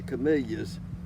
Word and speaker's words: camellia: So the dictionaries changed the pronunciation to Camellia, like it had two E's and one L, but it only has one E and two L's.